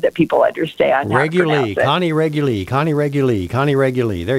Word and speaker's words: Reguli: couple times but it's regularly it's just like regular only it's got a